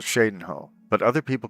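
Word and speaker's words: Cheydinhal: a town called Shadenhole, but other people call it Chadenho. Other people in the game call it Chadenho. They don't know how to pronounce Shadenhole, or they don't know how to pronounce the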